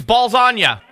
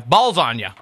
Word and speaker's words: Ballsonya: do you need my last name no it's balagna not no let me spell it for you b a l LS o n y a okay blaz no no no not blow Onna ballsagna yeah my name's balagna all right so